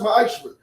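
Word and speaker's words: מעשר: Means 10th in Hebrew, and it's pronounced ma'ashra.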